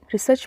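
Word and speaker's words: research: बोलते हैं रिसर्च रिसर्च यहां पर ना सर्च में आर थोड़ा सा साइलेंट रहता है तो उसको हम रिसर्च पढ़ेंगे आर ई एस ई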